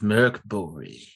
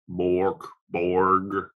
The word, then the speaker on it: Mörk Borg: company freya legend here i always read it phonetically mork borg that's not right milk burger we really